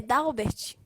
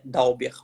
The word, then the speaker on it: Dalbert: Como é a pronúncia do seu nome? É Dalbert? É Dauber. O correto é Dauber.